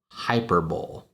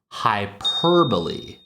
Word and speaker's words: hyperbole: And a lot of young people, especially children, will read this as hyperbole. I don't know that I've seen adults saying hyperbole, but the way this word is actually pronounced is hyperbole.